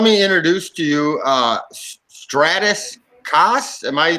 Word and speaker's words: Stratis Kas: second guys let me introduce to you uh stratus cass am i pronouncing that right you know to the ability